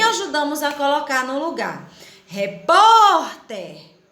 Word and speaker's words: repórter: a colocar no lugar repórter o pó é mais forte não é boneca olha aí